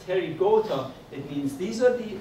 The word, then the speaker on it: Pterygota: Pterygota, P is silent. P is silent. Pterygota, it means these are the insects that they have wings.